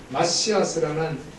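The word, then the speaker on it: מָשִׁיחַ: 크리스토스 그리고 마시 시스라는 마시아스 말에서도 파생된 말입니다이 마시아스 히브리 말로는 마시아 마시아 하고 발음을 하는데 이것은 바로 메시아라는 뜻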